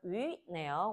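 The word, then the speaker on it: 鱼: YU는 유땡땡 발음 위네요. 올라가는 거니까 위 올라가는 발음.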